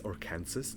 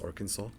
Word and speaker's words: Arkansas: By the way, you probably know this, but you're not allowed to mispronounce Arkansas. You have to pray Arkansas. Me and my parents at first was it's or Kansas. No, it's Arkansas.